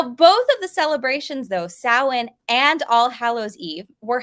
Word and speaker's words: Samhain: it halloween back then instead they called it samhain all right now when it's spelled out there i know it does kind of look like the word samhain there but that's actually pronounced samhain in their language now today we see that